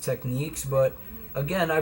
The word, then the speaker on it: Technics: technics technics thing where it's supposed to be pronounced techniques like that's their goal not their goal but their idea the brand's idea that it was supposed to be pronounced techniques but again I pronounced